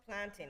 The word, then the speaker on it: plantain: It is pronounced plantin. Eh. Um and now you sound like you're a Toronto man's. What? plant anony plant anony because we say e. Jamaicans say e and it just sounds